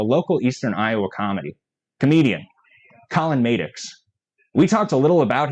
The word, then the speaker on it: Maddox: Dan can confirm it's pronounced Maddox.